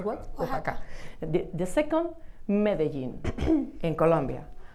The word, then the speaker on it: Oaxaca: Osaka, in Mexico, no? Osaka, I pronounce what? Oaxaca.